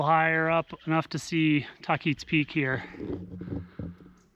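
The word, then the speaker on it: Tahquitz: Okay, I'm starting to get a little higher up enough to see Takit's Peak here. Based on a little research after the hike, the pronunciation should be Tquitz.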